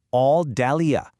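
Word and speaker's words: 澳大利亚: Check out Australia. All Dalia. That's four syllables, each one carefully chosen to rebuild the sound of the original name.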